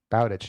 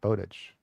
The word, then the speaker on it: Bowditch: And in Stephen King's book Fairy Tale, he has a Bowditch, and it Howard Bowditch, and I think it must be pronounced Bowditch, not Bowditch.